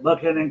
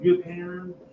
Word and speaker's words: Buchanan: We pronounce it Buchanan County. Some people upstate pronounce it Buchanan.